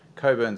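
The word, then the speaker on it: Cockburn: project is okay so Coburn sound yes the CK is silent um is just south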